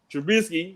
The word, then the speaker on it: Trubisky: our man's he's back i'm going to say his name with a t and not a b this time trubisky you know it's a